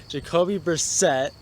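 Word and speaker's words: Jacoby Brissett: the last video I premiss pronounced Colts quarterback name wrong so I'm going to give myself Redemption here Jacobi Brissette he had a great game he definitely proven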